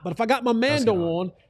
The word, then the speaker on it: Mando: It's pronounced Mando.